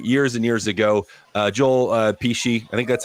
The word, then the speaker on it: Pesci: Joel Pesci, I think that's how you say it. Pesci. You can't say that name wrong.